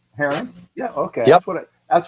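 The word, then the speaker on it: Hearron: EA r r o n yep right right Haron yeah okay that's what that's what I thought I think I was pronouncing it correct okay it's Echo is yeah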